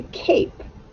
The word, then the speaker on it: cape: It has to have a silent E on the end because it says A. A. When you hear that long A, that's telling you that E needs to be there.